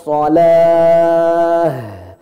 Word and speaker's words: shalah: Tak yang bulat kalau berhenti berubah hukumnya jadi hak besar yang tempatnya tenggorokan bawah. Maka cara bacanya harus ada tekanan di sini.